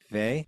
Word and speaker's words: Weil: Is She that how was you a pronounce French it? Vey?